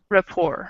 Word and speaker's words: rapport: the last one that's up there it's actually pronounced like this um rapport it's great i think yeah it is a